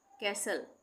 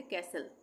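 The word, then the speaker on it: castle: मैंने पहले बताया ना कि एस टी एल इ भी एक साथ आएगा किसी वर्ड में तो वहां पे टी का उच्चारण नहीं होगा। इसको हम पढ़ेंगे कैसल।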